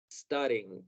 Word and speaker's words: studying: Hacer un sonido vocal antes de palabras que empiezan con S seguidos de una consonante. Vamos a tratar de empezar el verbo con el sonido studying.